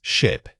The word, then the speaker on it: ship: Remember to keep the vowel short and crisp here. Don't let your sound stretch. It should pop out quickly. Think of a small contained burst of air for this word.